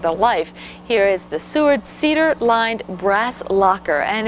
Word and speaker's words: Seward: I believe the pronunciation Seward, S-E-W-A-R-D, but this comes with the tags.